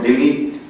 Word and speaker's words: Delhi: It is spelled as Delhi and pronounced as Delhi in Western world, but we call it Delhi.